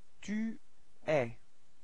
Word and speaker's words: tu es: Tu es. Alright, so you can notice that it's open eh, eh.